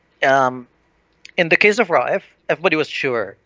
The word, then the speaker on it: Raif: Yeah, it's two syllables. Raif. Try. Raif.